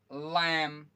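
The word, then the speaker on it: lamb: Okay, इसमें आपका, इस वर्ड में कौन सा आपका साइलेंट होगा, सटल, सटल, सटल। ओके, इसमें क्या हो जाएगा, ये वाला बी, लैम, लैम, लैम।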